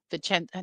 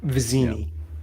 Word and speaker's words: Vizzini: bit until he came, into the service of Vicenzi. Now I'm going to say Vicenzi. Vicenzi. I always say it wrong. Now I'm going to say it wrong. Came into his service and basically is his hitman. Vizzini.